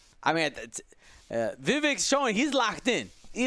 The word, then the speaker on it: Vivek: I mean, Vivek's showing he's locked in.